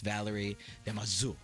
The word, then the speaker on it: Valérie Damaseau: And I have Miss Valérie Damaseau.